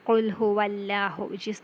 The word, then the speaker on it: Allah: okay then in bismillah Allah here the lamb in the world Allah can be pronounced in two ways that is first one is the frame that is with a full mouth um law that is